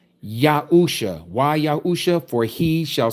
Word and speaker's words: Yahusha: That spells Yahu Sha. That's his name, not Yeshua. Yeshua again is Aramaic, that's not Hebrew.